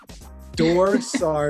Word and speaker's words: Dor Saar: It just, we pronounce like the R different in my language, but that's like the right pronunciation, I guess.